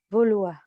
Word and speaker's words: vouloir: Aqui a gente já vai pronunciar, mas bem sutilmente, tá? De uma façon vraiment très subtile. Então, quando eu disser querer em francês, como é que eu falo? Vouloir.